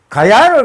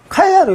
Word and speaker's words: 가야: 기억이 키읔으로 변합니다. 카야입니다. 카야로 이렇게 발음이 되는 겁니다. 가야 다르고 카야 다른 게 아닙니다. 인도 유럽에 의해서 경음화가 됐기 때문에 카야로 불려지는 것입니다.